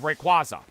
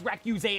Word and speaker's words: Rayquaza: I posted the clip of me saying it was pronounced Recuse. We did the world stream that Friday night, and they did the pronunciation of Rayquaza. And everyone's saying, oh my god, it's Rayquaza, it's Rayquaza, and I'm screaming, it's Recuse, it's Recuse.